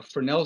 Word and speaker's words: Fresnel: f r s n e l but it's pronounced cornell as a french guy uh fresnel zone analysis that shows how high microwave antennas